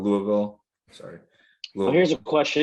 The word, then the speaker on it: Louisville: Yeah, we just Wes and I were at a buddy's wedding in Louisville at the end of, or did I pronounce that wrong? Louisville.